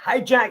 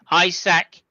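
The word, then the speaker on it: Isack: And anyway, let's start off with my man Hijack Hajar. Um, I think you'll find that's pronounced Isac Hajar. Isac Hajar. Isaac. No. Isac. Isac. Okay. Isac.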